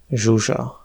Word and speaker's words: Zsuzsa: ZS (à ne pas confondre avec SZ) se prononce [ʒ] comme dans le prénom Zsuzsa.